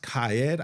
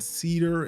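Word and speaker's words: Qaed: um but this is CED I think is how it's pronounced QA a e d of course I'll have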